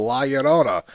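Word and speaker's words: La Llorona: It's the one word in Spanish I pronounce very well. Laona. The rest of it I can't do, but I can pronounce that word very well. The two L's make a Y sound.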